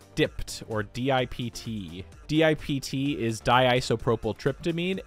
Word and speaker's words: DiPT: Next up, we have DiPT (pronounced as 'dipped') or D-i-P-T DiPT is